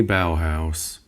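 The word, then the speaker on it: Bauhaus: Very bow house. Look at that. I pronounced it correctly.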